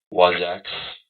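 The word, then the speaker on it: Wasacz: W-A-S-A-C-Z. Wazak. The Z is silent.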